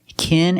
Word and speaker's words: kin: Now let's look at these 2 words, kin and king. With kin, we use the short I sound like this is. It's more open, I. And the regular N sound, Together, kin, kin.